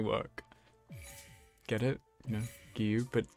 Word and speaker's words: Giyu: You know, giyu, but you don't pronounce J in giyu.